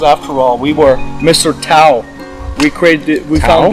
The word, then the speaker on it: Tao: It's called Tao. Tao, T A O, but it's, you know, like Zen and Tao, but it's actually Dao.